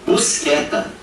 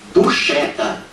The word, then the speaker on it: Buscetta: brasileira e transformada em Busqueta. Ortoépia com E aberto, ó. A pronúncia errada, errônea. Não é Busqueta, não. Na língua italiana, como se pronuncia este nome aqui? Assim, Tomaso Buscetta.